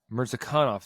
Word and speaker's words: Mirzakhanov: Mirzakhanov.